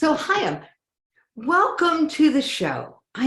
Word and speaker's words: Ohayon: your last name I'm going to let you pronounce it for us it's Ohio welcome to the show I am so glad